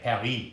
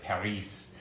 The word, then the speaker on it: Paris: Like Paris, you don't pronounce the S on the end.